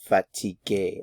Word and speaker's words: fatigué: So I would say elles sont fatiguées. Again, fatigué and fatigué are all pronounced the same. Actually, all of them are in this case.